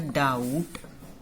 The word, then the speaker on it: doubt: In the doubt, B का sound नहीं आ रहा, तो B is the silent letter here.